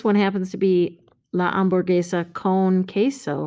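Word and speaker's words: hamburguesa: is a cognate but remember the h is not pronounced in spanish so it's ombur gesa this one happens to be la amborgesa con queso right remember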